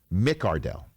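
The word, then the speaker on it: McCardell: to the fact that keenan mccardle came out and said no no no no no excuse me i am keenan mick ardell mick cardell we're like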